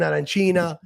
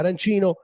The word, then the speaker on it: arancina: me, it's an arancina. And yes, if you go to Palermo, like you were in Palermo, you ask for arancino, they're not gonna serve you until you say it right.